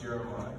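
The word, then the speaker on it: Jere'My: 20 minutes to the pronunciation of my name it's jeremiah it's pronounced jeremiah so i get it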